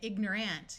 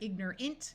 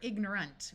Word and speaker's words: ignorant: as an ignorant person this a usually will sound more like a short U or a short eye so you don't really hear people say ignorant you'll hear ignorant with a short eye